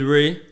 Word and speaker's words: Rey: so yeah one ray on instagram and twitter y'all saying i got music you can find me on youtube it's r e y so ray is spelled r r-e-y i'll put that down